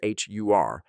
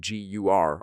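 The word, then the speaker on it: ГУР: In Ukrainian, this abbreviation appears as Hur, but because the first letter can be pronounced as either H or G, both Hur and Gur are used interchangeably.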